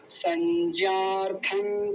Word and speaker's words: संज्ञार्थं: लेकिन सत्यम जी एक जगह छोड़ गए फिर आप, यहाँ पर संज्ञार्थं तान् ब्रवीमि ते, यहाँ भी अनुस्वार हटाएंगे तो न लगा देंगे, आधा न। कैसे बोलेंगे? संज्ञार्थं तान् ब्रवीमि ते, ऐसा।